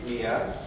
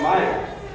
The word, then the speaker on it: Miya: inspiration your first name mia has caused us a fair amount of confirmation we spell it m-i-y-a which seems to confuse people who want to call him meyer we could have saved